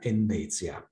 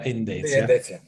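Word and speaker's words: Endecja: Le sue iniziali, DN, sono anche pronunciabili in polacco come nella sigla Endezia, democrazia nazionale, ma in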